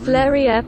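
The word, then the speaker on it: Fleurieu: Then we're back down to the Fleur Peninsula. I never know how to pronounce that. Fleuria Peninsula.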